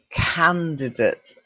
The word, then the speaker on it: candidate: Okay, so we'll start with number one, which is, I know you think date, but it's not, it's candidate. Okay. So although we say date, it's pronounced candidate. Okay, and the candidate is the person standing for election.